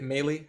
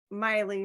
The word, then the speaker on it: Miley: is it is it melee how do you say your name I probably said it wrong Miley rhymes with smiley smiley Miley perfect thank